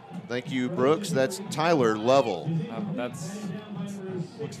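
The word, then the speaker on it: Thailer: that one spelled th a I le are Tyler it's a creative spelling on that one but yeah that's that is the official pronunciation of that one so the Bruins now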